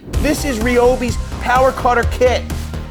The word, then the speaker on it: Ryobi: listen here's the deal it's been confirmed over and over again from ryobi that it's pronounced ryobi ryobi it's ryobi i like this i'm going